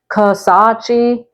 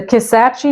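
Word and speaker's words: Kisatchie: next up we have you may be tempted to say Ki or kace but it's pronounced kace the kace national forest is a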